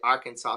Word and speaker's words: Arkansas: but it was funny the S is silent I caught it Arkansas so it but it's